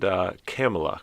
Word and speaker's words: Camila: played both amelia and camila claremont and it's interesting to note that the script specifically states that uh campbell's name is pronounced pamela with a c but uh deborah uh